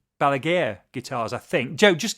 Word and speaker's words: Balaguer: And it's Balager Guitars.